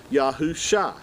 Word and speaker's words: Yahusha: ian uh together this these two letters give you the pronunciation of shah yahoo shah now yahoo shah is